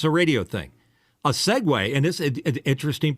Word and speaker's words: segue: It's almost like Segui, just so you know. And it's a radio thing. A segue, and this is an interesting point.